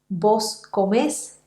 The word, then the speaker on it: comés: a obtener vos trabajás, vos comés y vos vivís. La sílaba final es siempre la sílaba que va a sonar más fuerte porque se trata siempre de palabras agudas.